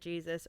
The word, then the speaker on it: Jesus: I expected Jesus, but was really hoping for Jesus, like the pronunciation. And I was not let down. They pronounced it Jesus, which is John Turturro's character.